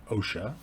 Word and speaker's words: OSHA: So, the Occupational Safety and Health Act OSHA, which is usually pronounced OSHA.